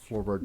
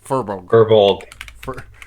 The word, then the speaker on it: Furbolg: So with Furbolg, it's fur, like the stuff on an animal, and then bulg. B-O-L-G. Bulg.